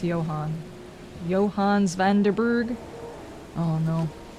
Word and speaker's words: Johannes: pictures of the ladies Johannes is pronounced Johan Johan's van erber oh